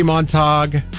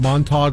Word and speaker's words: Montag: hashtag um how quickly they turn uh Heidi monog is that how you say her name montog or Montag Oh either way I'm not a I'm I